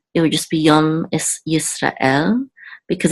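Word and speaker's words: ישראל: You don't want to say Yisrael, but Yisrael. This, you should have some kind of pause or breath right after Ra and before the Aleph. Because I know they say that Aleph is silent, but it's not really just silent. It's actually a pause.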